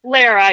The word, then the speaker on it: Lara: Lara. Yeah. I always tell people Lara like Sarah with an L.